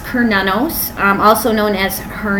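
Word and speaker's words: Cernunnos: as well as her twin flame so it's pronounced per nanos I'm also known as her knee he's also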